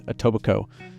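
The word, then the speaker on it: Etobicoke: It is atobico. You don't say the k.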